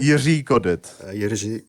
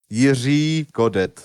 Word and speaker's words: Jiří Kodet: Well, Czech being one of the hardest languages on the planet Earth, it's kind of hard to pronounce the letter. So it's one of most people have a problem with that when they don't learn it since they were really fucking small.